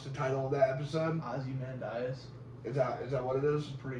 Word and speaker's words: Ozymandias: I don't even know how to pronounce the title of that episode. Ozymandias.